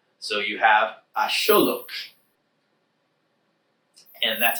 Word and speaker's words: axolotl: So, he bailed out, turned himself into an agave plant, and an axolotl or ah Sholookh.